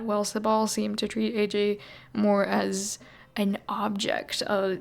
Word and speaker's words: Ajay: I know a lot of the characters say Ajay. They say that's the right way to say it, but he says AJ, so I'm going with AJ.